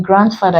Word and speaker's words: grandfather: unlike Grandma grandson that this is not pronounced in grandfather it is pronounced it